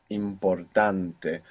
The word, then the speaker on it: importante: for example important becomes importante where is the stress there in the second last good the stress is